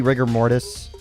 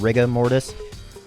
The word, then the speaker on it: rigor mortis: is is he's wow or maybe rigor mortis which i found out is actually how you're supposed to pronounce it's not riga mortis uh he appears to